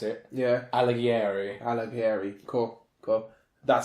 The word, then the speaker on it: Alighieri: have Afridi I'm going to pretend allow to pronounce it yeah Alighieri Alighieri cool good that sounds better how I